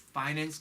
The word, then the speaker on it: finance: 여러분, finance 할 때 F 발음이 나오면 여러분 아랫입술을 윗니로 한번 긁어줘야 되죠. finance condition.